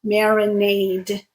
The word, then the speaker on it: marinade: But in this case, the unvoiced sound t creates a verb, marinate, and the voiced sound creates the noun, marinade.